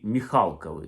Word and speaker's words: Михалков: що Нікіта, що Сергій, вони Михалкови, не Михалкови, тому що це давній рід, у них наголос так стоїть.